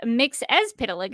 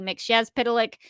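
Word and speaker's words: Mxyzptlk: say correctly yes so this uh version of mix as Pik is how they say it in this episode I prefer the mixz pic uh version of the pronunciation but here I think it was pronounced mix as pic so he is the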